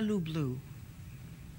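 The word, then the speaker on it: люблю: Ya tibya lublu. Do you know what that means? Yes. I probably said it wrong. Did I say it wrong? No. I love you, I hope it means. Oh, yeah, lublu.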